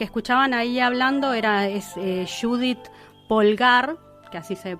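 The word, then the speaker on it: Judit Polgár: menciones la que escuchaban ahí hablando era eh Judith pulgar que así se pronuncia bueno la mejor la mejor ajedrecista de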